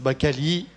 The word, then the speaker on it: Cali: Signor Cali mi permetterà un caloroso saluto in italiano.